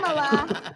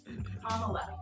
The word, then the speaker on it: Kamala: But as Kamala said, it's not Kamala. And I also want to thank Kamala for her leadership. How do you pronounce it? Kamala. Like a comma? Like the punctuation.